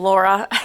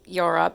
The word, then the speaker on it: Laura: And I pronounced her name Yora because I swear it was a Y, but it was an L.